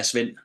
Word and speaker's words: Svend: I can get the last name, but the first name Spend. Yeah. Spven.